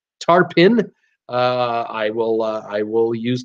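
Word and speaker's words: Tarpon: English language is crazy tarp on Springs is pronounced tarp in I will I will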